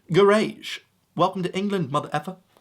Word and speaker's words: garage: Americans still pronounce this word garage. What Philistines? I just can't believe it, really. The correct pronunciation is garage. Duh, it's right there. It looks like rage. Garage.